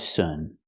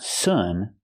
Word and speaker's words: soon: We have to use a long oo sound like moon. Soon. Noon. It's the long oo sound. Not like good and book. Not sun, but soon.